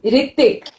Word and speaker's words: Ritwik: It's Ritwik with a W. Ritwik. Yeah, but you know what? In Bengali, we say Ritik.